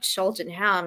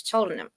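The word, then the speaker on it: Cheltenham: yeah Bingham or not it's not sheltonham it's chham biringham okay so I have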